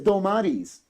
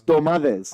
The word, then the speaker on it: Dolmades: It's Dolmades. I'm even confused how I say The it. D, don't the know. D in Greek is pronounced like a TH.